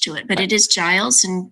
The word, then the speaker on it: Giles: I don't have anything attached to it, but it is Giles and not many people say it correctly.